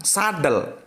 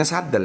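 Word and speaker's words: السدل: Sesungguhnya Rasulullah melarang sadel. Ini bacanya sadel ya, sadel.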